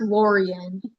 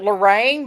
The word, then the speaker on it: Laurian: Um, it's pronounced Laurian. Okay. Well, I wasn't sure because I knew it wasn't Lorraine, but I was like, but okay.